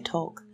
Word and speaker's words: Tolk: It's Tolk, right? That's the right way to say that.